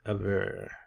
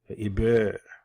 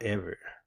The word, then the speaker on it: Eber: The pronunciation is Aber, Eber. Now, some of our African brothers and sisters might say Eber or Ever, right?